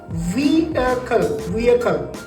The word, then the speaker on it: vehicle: හැබැයි පුතේ මේ වචනය ඇවිල්ලා vehicle නෙමෙයි. අපි හැමෝම පුරුදු වෙලා ඉන්නේ මේකට vehicle කියන්නේ. මේකේ හරි pronunciation එක තමයි vehicle. හරිද? මම පොඩ්ඩක් slow කරලා කිව්වා. vehicle. It is not vehicle, it is vehicle.